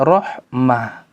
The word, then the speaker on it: رحمة: Misalkan kalimat rahmat, ya, kalau ditulis dengan tak maftuha berhentinya rahmat. Kalau ditulis dengan tak marbutoh maka bacanya rahmah.